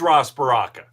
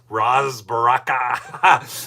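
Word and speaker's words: Ras Baraka: Now, a lot of you are probably saying, "Wait, they should charge Ros Baraka." That's how you say his name. Ros Baraka.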